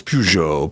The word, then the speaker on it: Peugeot: Or is it pujo? It's pujo. Pujo pou. You have to say it with a little French.